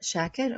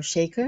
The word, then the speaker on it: Shakir: My name is Shakir or Shaker both pronunciations are correct.